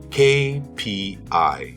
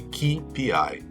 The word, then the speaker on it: KPI: A letra K em inglês é K, KPI. Esqueça essa história de KPI. KPI, Key Performance Indicator. So a KPI. K is a consonant, a letter in the alphabet. KPI.